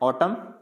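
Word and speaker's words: autumn: नहीं प्रोनाउंस करना है, तो इसको पढ़ना है ऑटम डैम कॉलम, यानी कॉलमन नहीं पढ़ना, ऑटमन नहीं पढ़ना, डैमन नहीं पढ़ना, डैम, यानी एन को प्रोनाउंस नहीं करेंगे।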